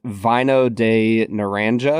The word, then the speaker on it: Vino de Naranja: I think it's pronounced Vino de Naranja.